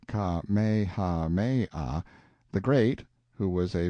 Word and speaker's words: Kamehameha: When Kamehameha, pronounced Ka-me-ha-me-ah, the Great, who was